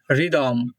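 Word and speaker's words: rhythm: Rule number 3, আর এর পরে যদি এইচ থাকে তাহলে আর এর উচ্চারণ হবে, কিন্তু এখানে একটা মজার ব্যাপার হচ্ছে যে আর এর উচ্চারণ হলেও এইচ মেইনলি সাইলেন্ট থাকবে। ওকে, যেমন রহিম, রিদম।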